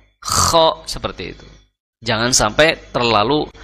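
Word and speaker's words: خ: ko itu lemah karakternya Jadi cukup KH ak KHO KHO seperti itu jangan sampai koho Kho seperti itu jangan sampai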